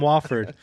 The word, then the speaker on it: Wofford: Last game you were talking, I guess you've been pronouncing that team wrong, just like Oregon State. I call them Wooford, so they might be. I always called them Wofford.